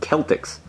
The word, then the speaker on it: Celtics: my husband stupid Boston Celtics you didn't even say your name right it's pronounced Celtics and your mascot's a